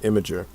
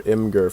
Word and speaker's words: Imgur: I have a problem like that with Imager, or Imgur for people who like to mispronounce things, and Imgur, that's me.